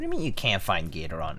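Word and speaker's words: Gateron: Can't find Gatoron? It's... What do you mean you can't find Gatoron? It's Gator, like Gator, like Gator, and then Ron from Novel Keys.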